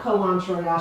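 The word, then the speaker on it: culantro: reading the comments okay so it is called kalanchoya she is saying it right yeah it is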